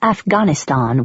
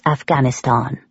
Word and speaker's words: Afghanistan: I pronounce Afghanistan with a long a just like someone from the BBC World Service would pronounce Afghanistan.